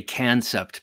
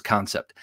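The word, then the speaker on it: Kansept: week concept or i'm i'm so tempted to say cancept because of how it's spelled but i'm pretty sure it's concept concept knives which is a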